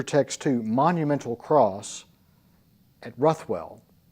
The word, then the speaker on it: Ruthwell: There's a very intriguing, and this is in your text too, monumental cross at Ruthwell. If we were in Scotland, they would pronounce it Rivell.